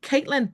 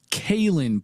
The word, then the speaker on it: Kaylin: Did I get that name wrong? No, you did. It's Kaylin.